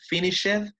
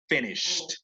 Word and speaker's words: finished: En vez de pronunciarle finished, pronunciemos finished, sin la E.